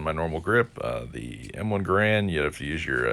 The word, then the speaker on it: Garand: World War II era by Mr. Garand, which is how the rifle is actually pronounced.